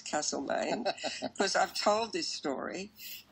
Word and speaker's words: Castlemaine: playing in castlemaine now I know how to pronounce Castleman because I've told this story at many of